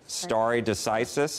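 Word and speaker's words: stare decisis: about I think I'm gonna watch the the pronunciation starry decisis is that right that's very good so you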